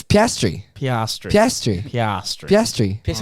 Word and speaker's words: Piastri: How is it pronounced? Piastri. Piastri. No, Who's Piastri? Oscar Piastri. Do you not know Oscar Piastri? Piastri. It's Piastri.